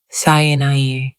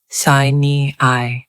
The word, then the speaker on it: Sinai: In English, the name is now usually pronounced Sinai. An alternative, now dated pronunciation in English was Sinai.